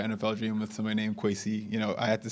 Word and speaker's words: Kwesi: dream with somebody named Kwesi?" I had to say so people call me Kwesi. It's pronounced differently, in where my family's from.